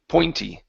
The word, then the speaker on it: pointy: We're working on the oi sound here in the middle. Your P sound was just fine. Okay, but the vowel is poi, oi, pointy. Pointy.